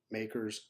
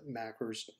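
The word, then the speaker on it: MACRS: part three we'll discuss makers depreciation which stands for modified accelerated cost recovery system makers some people pronounce it macros in part four that's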